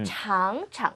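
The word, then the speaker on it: 尝尝: 어떻게 됐죠 장창 그렇습니다 창창 그리고 두 번째 거는 경성으로네 창음 창창 살짝 그렇게 발음을 해 주시고요 어 동사를 두 번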